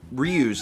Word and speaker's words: Ryu: Because, like, Ryu's name is pronounced, well, Ryu.